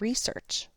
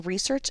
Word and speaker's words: research: In this case, when research is a noun, it is two sounds or two syllables. We can see the stress mark here indicates that the first syllable, re, is stressed a little more loudly and a little